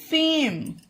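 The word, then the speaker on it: fame: पहले स्वर ए हो किसी भी वर्ड में पहला स्वर ए हो तो उसका उच्चारण एक का तो ए ही होगा पर उसके बाद ई आता है तो उसमें उसका कोई भी उच्चारण नहीं होता है एग्जांपल में क्लियर करते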